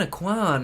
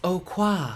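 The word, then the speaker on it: Aucoin: pronouncing his name right I always thought it was Kevin a Kwan I finally saw a video of him pronouncing it and apparently it's Oh quaff like ocher but classy anyways how the hell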